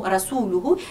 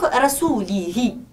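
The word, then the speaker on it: رسوله: si l'on peut dire, il lui a suggéré de mal prononcer le mot « rasuluhu » et de dire « rasulihi ». Donc, et cela, le changement de cette petite voyelle change le sens du verset coranique du tout au tout.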